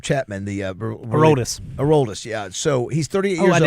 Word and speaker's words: Aroldis: So, how do you pronounce his first name? Chapman, the Aroldis. Aroldis, yeah.